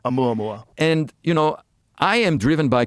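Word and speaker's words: ʻOumuamua: And that was Oumuamua.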